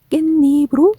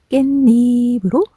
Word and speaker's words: 깻잎: 소리로 발음하게 되는 것이랍니다 그래서 니이 자꾸자꾸 말하다 보면 좀 더 발음하기 쉬운 깻잎으로 말하게 되는 거죠 드디어 결론까지 왔네요 겟